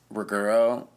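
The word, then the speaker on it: Ruggero: other main director besides Ruggiero. It's Ruggiero, that's how you say his name.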